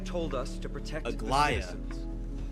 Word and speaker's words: Aglaia: Aglaia told us to protect the Aglaia. citizens. That's how you pronounce it, not Aglia.